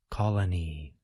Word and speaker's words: colony: Be sure that you place stress on the first part of the word. Colony.